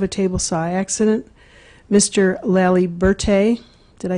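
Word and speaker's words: Laliberté: My name is Liberté. You can think of it like the Statue of Liberty and put a law in front of it.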